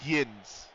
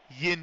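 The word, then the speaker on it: yinz: usually say y'all um they say Yin Yin is the word they use y i n z dead now how that's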